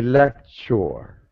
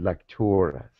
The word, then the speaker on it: Lectoris: You say lecture. Okay. We pronounce it Lectoris.